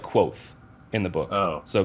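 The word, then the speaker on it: Kvothe: e that's a yeah but they say it's pronounced like quo in the book oh so qu that's horrible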